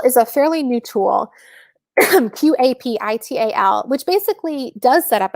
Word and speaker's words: Qapital: And actually, it's spelled with a Q. So hold on. So let me drop this in the comments. So Capital is a fairly new tool, Qapital, which basically does set up a separate account for you.